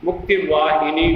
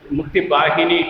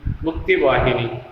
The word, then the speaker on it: Mukti Vahini: Mukti Vahini we say, but Mukti Bahini it is given in the textbook. Bengalis and most of North Indians, they don't pronounce Va. They pronounce Va as Ba, that's why it was